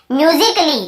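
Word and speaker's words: musically: है तो ए को हम नहीं पढ़ते हैं, साइलेंट होता है ना, उसे हम नहीं पढ़ते हैं। जैसे कि देखिए यहाँ पे म्यूजिकली क्या लिखा हुआ है, म्यूजिकली।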